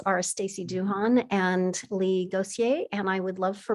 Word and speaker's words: Gauthier: You know, your pronunciation is getting better every time you come back from France. So, yes, it's Leigh Gauthier here.